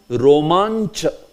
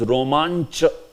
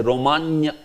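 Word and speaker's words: रोमाञ्च: Romancha. This is romancha. Sometimes I have seen this, they will say romanya. Or, they will not pronounce this C. This ch. It's there. So you have to say romancha.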